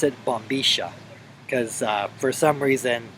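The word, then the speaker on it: bombilla: forth they pronounce it Boma cuz uh for some reason that I guess I'm not really sure why the Double L Sound in Spanish is pronounced sh um just kind of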